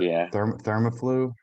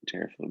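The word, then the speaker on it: TheraFlu: Is that how it's said? I thought Thermaflu, something like that. It's Terraflu. Most people say Terraflu.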